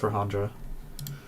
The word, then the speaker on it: Rahendra: Sorry, Rajendraa. I think it's pronounced Rahendra. Yes, it is.